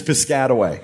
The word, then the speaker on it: Piscataway: It's Piscataway. Oh. And he was, Because that's how I pronounced it too.